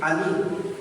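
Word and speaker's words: עני: written ng salitang humble sa Hebrew na ang pronunciation ay and me, ani, na ang ibig sabihin ay poor, afflicted, lowly, needy, bowed down, and oppressed, and dependent.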